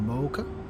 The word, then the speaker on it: mocha: chocolate locker here too but pronounced with the long o a mocha it's a mexican hot